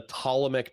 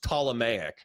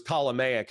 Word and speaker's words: Ptolemaic: And I think I said like the Ptolemaic dynasty. And then what's his face? The fuckstick from last night said, oh, it's pronounced Ptolemaic.